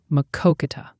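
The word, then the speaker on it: Maquoketa: It's pronounced Makoka. That's how you say Makoka, Iowa.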